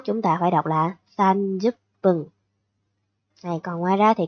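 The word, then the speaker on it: 三十分: Trừ trường hợp 30 phút chúng ta không đọc là han mà phải đọc là sanjup pân. Nhé, đây. Hay 30 phút chúng ta phải đọc là sanjup pân.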